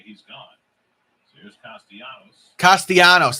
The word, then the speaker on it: Castellanos: Castellanos, that's how you say his name.